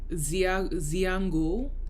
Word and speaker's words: Xithango: There's another style called Xiango, and that's spelled Xithango.